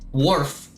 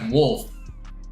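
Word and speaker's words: Wharf: I mean, warf is how I would say it in English cuz it's spelled wh a rf. Warf it with my normal American accent. But the other guy said I have to say like wolf wf.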